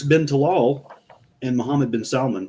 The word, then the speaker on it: Salman: tal and Muhammad bin Salon which I also got to say that's the only time it's okay to pronounce the L in Salmon um yeah they don't